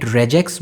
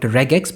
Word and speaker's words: REGEX: Another thing is that you will see me calling it REGEX, but some people call it REGEX because it comes from regular expression but no matter what you choose to pronounce it, in this video, I'm just going to go with REGEX but both are correct.